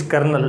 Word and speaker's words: colonel: Next कर्नल, किसी भी रंग रूप से, किसी भी एंगल से ये कर्नल दिखाई नहीं देता, बट इट्स कर्नल, लेकिन हाँ ये कर्नल है।